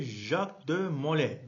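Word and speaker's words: Jacques de Molay: Son olarak 19 Mart 1314'te Jacqu de Mole diye eee okunuyor okunuyor.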